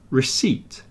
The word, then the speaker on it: receipt: and then receip receip so it's got a silent p in there and it's pronounced receip recipe and receipt here's